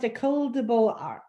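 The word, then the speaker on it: École des Beaux-Arts: Both the École de Beaux-Arts, I think. And it's pronounced École de Beaux-Arts.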